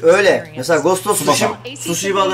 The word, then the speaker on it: Tsushima: Tsushima da eğer Tsushima diye okunuyor. Tsushima. Tsushima. Sı. Yani T'yi olabildiğince az telefiz edin.